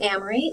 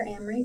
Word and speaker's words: Emery: again my name is Emery if it helps to remember it rhymes with Kamri like the Toyota Camry and my last name is you can call me either Amory or miss both